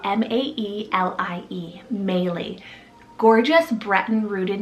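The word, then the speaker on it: Maelie: that was sent in is melee spell m-a-e-l-i-e melee gorgeous breton rooted name meaning princess next i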